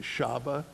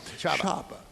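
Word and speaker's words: Csaba: You can pronounce his name for me. Shaba, C-S-A-B-A. Yeah, Shaba.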